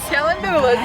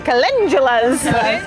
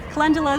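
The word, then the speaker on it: calendula: Yeah, they are not kalandulas. They are kundulas. And even within gardeners, there can be like a little bit of a difference of pronunciation. Some people like lean towards one towards the other. Kundala is the how I've been taught.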